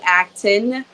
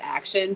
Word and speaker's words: Acton: bit about myself so my name is Acton my last name is spelled acting but for whatever reason everyone adds an i in there and then they add action so we're gonna go with the close times